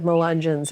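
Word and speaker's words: Melungeon: so I confess I had never heard of Mangin before am I even pronouncing it right yeah that's no big confession nobody's heard of mungin outside of this area Lee County Virginia is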